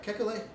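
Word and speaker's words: Kekulé: know how to pronounce is it kekule yeah yeah kekule what do you do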